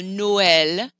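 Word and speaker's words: Noël: but it's not christmas so noel you separate those two sounds out another example is naive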